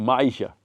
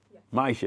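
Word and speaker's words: Myisha: awesome awesome awesome my name how do you spell that m y i s h a Maisha Maisha yes and my question is how did theet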